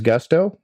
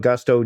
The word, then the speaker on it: Gusto: What is Gusto? Well, it rhymes with must or Rusto in let's do it